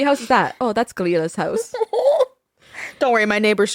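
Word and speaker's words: Grýla: Oh, that's Grilla's house. Don't worry, my neighbor's just Grilla. It's just Grilla. That's Grilla. fine. Yeah, Grilla. Grilla. Like green la.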